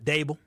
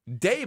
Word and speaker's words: Daboll: How do you say his name? Dable. Brian Daboll. Daboll.